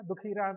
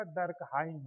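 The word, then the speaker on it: Durkheim: आप लोग दुखीम कहते हैं या दुखीराम कहते हैं, कुछ भी कह लीजिए, लेकिन सही उच्चारण उसका डर्कहाइम है, DURKHIEM, एमाइल डर्कहाइम, EMILE।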